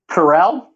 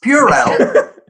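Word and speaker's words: Purell: chris bowers bowers uh could you say one more time how you think the and sanitizer brand is pronounced corel that's an incorrect it's purely and everybody knows it pharrell what is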